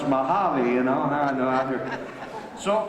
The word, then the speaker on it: Mojave: said we found it on the map the Mojang desert hits it hits pronounce mojave you know no other so I used to